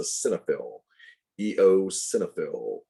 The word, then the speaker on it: eosinophil: the white blood cells in your body that is pronounced eosinophil you pronounce the e then the o then it's a cinephil eosinophil and these are also phagocytes which can gobble